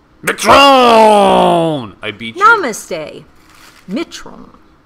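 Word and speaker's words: मित्रों: Mitron. It's, the emphasis is on the first syllable.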